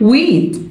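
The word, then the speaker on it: wheat: قمح ويت الاتش سايلنت ويت قمح ويت.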